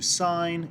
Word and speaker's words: sine: But we're just going to give you an introduction to sine, cosine, and tangent ratios. So the first one, this is pronounced sine because SIN is the abbreviation. It's actually SINE.